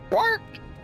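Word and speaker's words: Bwark: Bark. It's like a bark. Oh. It's spelled B-W-A-R-K. Bark. Okay. Yep. Bark.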